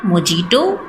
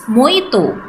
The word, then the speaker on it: mojito: It's not mojito, it's mojito. Example, my favorite drink is mojito.